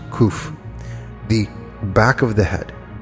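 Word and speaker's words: קוף: In the symbolism, 100 has the letter Kof, pronounced Kuf, the back of the head.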